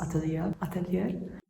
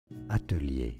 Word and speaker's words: atelier: Please excuse the audio in here, it's really echoey because I'm alone in this atelier. Atelier is how it's said in French. Now, in English, atelier.